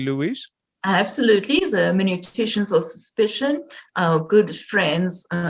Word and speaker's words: hermeneuticians: Her field of interest includes post-Christian philosophy, in particular the hermeneuticians of suspicion. Did I pronounce that correctly, Louise? Absolutely, the hermeneuticians of suspicion, our good friends, Karl Marx, Friedrich Nietzsche, Charles Darwin, and who am I leaving out?